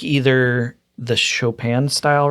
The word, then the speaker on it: Chopin: Spelled Chopin. Yep. That's how I pronounced it when I was a kid. Yeah, Chopin etudes, no, it's Chopin.